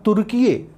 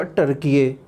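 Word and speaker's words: Türkiye: हैं का नया नाम तुर्कीये कर दिया गया। ध्यान रहे, अब टर्की का एक नया नाम हो गया तुर्कीये। इंग्लिश में इसका उच्चारण होगा टर्कीये।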